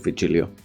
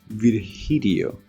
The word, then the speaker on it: Virgilio: You look winded, Vigilio. It's pronounced Virgilio. Suck my nuts. No, I'm pretty sure it's Virgilio.